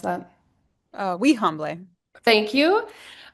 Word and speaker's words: Wihanble: Kite, do you want to correct how I pronounced that? Wihanble.